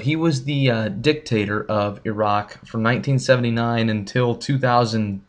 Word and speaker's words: Iraq: heard of this country in the news it's pronounced Iraq many Americans will try to pronounce it Iraq or Iraq but it's Iraq Iraq started out early on